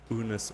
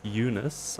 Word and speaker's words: Unisa: was asked now is whether it was bunus or Eunice we've been told it's pronounce Eunice I also thought it